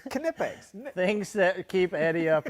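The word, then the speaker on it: Knipex: good odds are good nitpicks silent k quality giveaways from the toolshed you think all the letters got together and decided which ones were going to be silent i was wondering about that it's kinipex things that keep eddie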